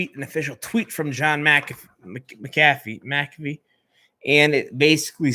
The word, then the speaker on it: McAfee: It's McAfee. But the C comes before the A. Anyways, we have an official tweet from John McAfee.